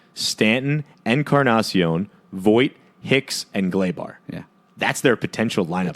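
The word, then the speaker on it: Gleyber: Gregorius, Gary Sanchez, Stanton, Encarnacion, Voit, Hicks, and Glaber. Yeah. That's their potential lineup for the It's playoffs. pronounced Glaba.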